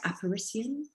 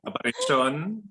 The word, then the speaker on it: Aparisyon: Why did you choose to name your work am I pronouncing it right? Apparition? Yeah. Aparisyon. Yeah. Aparisyon, but close, very close.